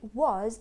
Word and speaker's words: was: was recognizing the street so then we carry on to was and it's unstressed right it's not one of the stressed syllables and that means you should not say was with an or it should not be